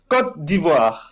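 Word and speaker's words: Côte d'Ivoire: beautiful correct pronunciation the the good pronunciation is cut diva beautiful there you go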